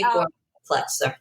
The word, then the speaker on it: Gorman-Plutzer: Gorman-Plutzer.